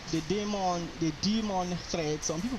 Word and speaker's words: daemon: We have the user thread and the demon thread if you are to call it by the definition that was there online is demon to call it.